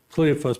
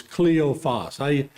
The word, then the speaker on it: Cleophas: I always say Cleophas, but it's Cleophas. That's the exact pronunciation?